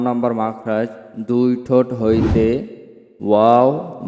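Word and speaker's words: و: অর্থাৎ দুই ঠোঁট হইতে ওয়াও বা মিম উচ্চারিত হয়। ওয়াও উচ্চারিত হয় ঠোঁট গোল করিয়া মুখ খোলা রাখিয়া, এবং বা ঠোঁটের ভিজায় ভিজায় উচ্চারণ করতে হয়।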